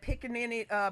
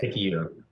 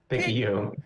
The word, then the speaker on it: Picayune: Oh, you thought I was going to tear up that Pickaninny, Mississippi. Did I say that right? See, I didn't even know how to say it. Picayune. Picayune.